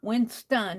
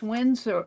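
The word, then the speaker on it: Winsor: i n winom it's not Winston it's w winom i always it's Windsor it's Windsor Windor w n s o r I always pronounce things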